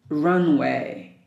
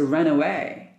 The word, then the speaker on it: runway: cabin crew control tower Runway don't pronounce it run away because the runaway that's uh a verb phrase this is a noun Runway the plan can run